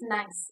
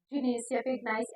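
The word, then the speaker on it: gneiss: हम लोग हमेशा य जिने नाइस ऐसे प्रोनाउंस नहीं करेंगे इसको हमलोग प्रोनाउंस करेंगे नाइस नाइस इ फॉर्म फ्रॉम ग्रेनाइट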